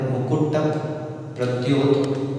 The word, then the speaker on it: मुकुट प्रद्योत: सर्वप्रथम यहाँ पर इसका उच्चारण होता है मुकुट प्रद्योत, क्योंकि यहाँ पे यह टा के बाद स्वर है और यहाँ पर संयुक्त अक्षर है, तो स्वराघात यहाँ पर हो रहा है और स्वराघात जहाँ पे